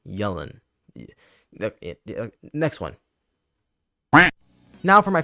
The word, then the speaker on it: Yelan: Yelan. Like I'm yelling. Yelan.